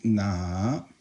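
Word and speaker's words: 哪: Now, if you put a ko there, it means na. Okay, and that's third tone.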